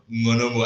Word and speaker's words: Ng'onomo: surname by yourself because when you said Monomo, I realized the G was silent because I pronounced it the first time.